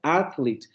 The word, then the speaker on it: athlete: Entonces se tiene que pronunciar athlete.